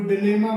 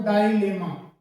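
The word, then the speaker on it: dilemma: जैसे एक है DINEMMA, इसको कोई डिलेमा बोल देता है, कोई कुछ इस तरीके से बोल देता है, लेकिन इसका सही जो प्रोनाउंसिएशन होता है वो डाइलेमा, डाइलेमा, डाइलेमा।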